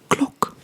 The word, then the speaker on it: klok: So a clock translates to klok, klok, klok. Like I said, Dutch is a pretty phonetic language, so if there's just one O, the sound is a short O most of the time.